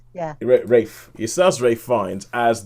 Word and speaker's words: Ralph: And it stars Ralph Fiennes, which I believe is how you pronounce his name nowadays. Rafe, yeah. Rafe.